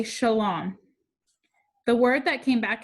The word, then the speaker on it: shalom: shook his head no not shalom shalom that's a long o sound like home say it with me